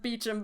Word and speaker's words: Beauchamp: my name too Zacky Beauchamp oh my last name is pronounced Beecham but no one ever knows how to say it well that's because you're